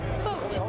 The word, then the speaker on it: Foat: Foat. That's right. It rhymes with boat. that's what he told me. I remember now.